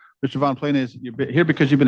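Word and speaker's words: Von Ploennies: How do you pronounce your last name, sir? Von Plennies.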